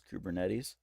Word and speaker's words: Kubernetes: you can use and I I've heard this pronounced a couple ways the way that I like best is kubernetes you can go ahead and hate on that